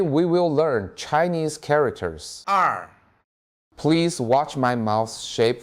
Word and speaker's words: 二: 二 Please watch my mouth shape for pronunciation.